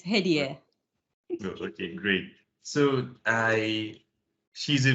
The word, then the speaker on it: Hedieh: So we have Hedieh. I hope I pronounced it correctly. You can correct me so that I'll pronounce it the right way. No, it's perfectly fine. Yes, it's Hedieh.